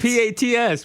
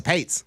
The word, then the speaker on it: Pats: you can't be both p a TS Pats it's Pats it's spelled the Pats that's the Pates how do we get